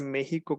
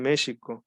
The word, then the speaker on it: México: cosa que dijo iturbide no pronunciar méxico con jota sino pronuncia en méxico porque porque a los mexicas se les decían así mexicas con c entonces éste así dijo iturbide no digan méxico diga en mexico pero pues la gente ya está acostumbrada pronunciado con jota incluso escribían y pronunciaba